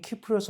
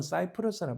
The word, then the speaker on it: 키프로스: 그 밑에 섬이 키프로스 혹은 사이프러스라 발음하는데 그 오른쪽에 시리아가 얼마 전에 정부가 무너졌잖아요.